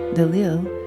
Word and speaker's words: Delille: death to her as Harriet Dil which is a different spelling but the same pronunciation of Dil the lack of documentary